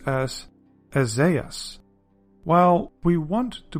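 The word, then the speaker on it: Ἠσαΐας: So that's where you get these 2 little dots, and now you can pronounce it as Esaias.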